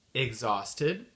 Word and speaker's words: exhausted: exemples rapidement euh de de mots en anglais où on prononce pas le H c'est le H muux